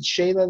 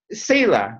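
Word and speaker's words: Selah: that whole thing of, is it Shayla the way it's pronounced? I think it's Sela, but pause. Sela, Shayla. Pause or. Yeah, like a pause. And is it Sela? Sela, right.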